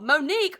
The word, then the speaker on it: Monique: even read for example Monique rhymes with streak and she had a